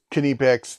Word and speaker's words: Knipex: made by a really well-known company such as canipex and it is kinnepex they sell a shirt shows you pronunciation this should be a done deal somebody